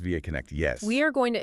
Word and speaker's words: VAConnect: Pronounced VAConnect, yes.